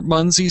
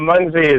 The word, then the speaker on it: Munzee: All I know about Munzie is it rhymes with Funzie, which kind of reminds me of Fonzie.